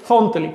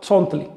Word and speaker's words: zontli: o el orden 400 se dice Zontli con Z, pero esa no es la forma de pronunciar en náhuatl. En náhuatl pronuncia mucho más suave, Zontli.